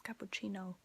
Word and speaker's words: cappuccino: it's very easy like the word is the same but the pronunciation is very different and so it's like cappucci no now you try to say it perfect um an espresso is